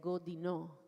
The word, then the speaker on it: Godinaux: Or I do not speak French, but I'm saying it phonetically, Gaudinau. But I'm sure that in French it's like Godinaux. And so with a Spanish ear, they hear it Godino.